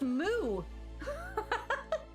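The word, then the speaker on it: moue: that word m-o-u-e-m-o-u is a pouting grimace it's pronounced moo that's hilarious let me use that from now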